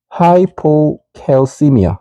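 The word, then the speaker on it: hypocalcemia: 이것 또한 발음 기호대로 읽어보면 하이포캘시미아, 하이포캘시미아, 하이포캘시미아 이렇게 읽습니다.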